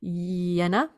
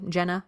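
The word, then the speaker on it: Jena: the University Hospital in yenna inginia Germany it's spelled j j n a Jenna yenna not sure the artist has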